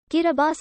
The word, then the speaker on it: Kiribati: of small island states the pronunciation differs there bti kiribati is the normal pronunciation as t in the gilberti's language represents an s sound the name kirabas was